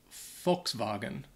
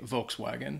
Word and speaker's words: Volkswagen: a German car company so I think in German they would pronounce it uh folks swagen is that pretty good yeah I think so in the US uh a lot of native uh English speakers would say Volkswagen so you'd hear that that W sound in there Volkswagen Volkswagen is that's how they say it what like the back